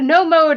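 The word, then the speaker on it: know mode: No mode is spelled K-N-O-W.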